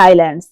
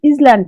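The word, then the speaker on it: island: Made up of many আইল্যান্ডস। Indonesia একটি বড় দেশ যেটা কিনা অনেকগুলো দ্বীপ নিয়ে তৈরি। আইল্যান্ডস। আইল্যান্ডস মানে হচ্ছে দ্বীপ। দেখো এখানে উচ্চারণটা হবে আইল্যান্ড। ইজল্যান্ড নয়। এটা হবে আইল্যান্ড।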